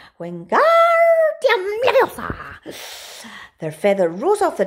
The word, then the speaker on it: Wingardium Leviosa: "Wingardium Leviosa!" he shouted, waving his long arms like a windmill. "You are saying it wrong," Harry heard Hermione snap. "It's Wingardium Leviosa. Make the gar nice and long."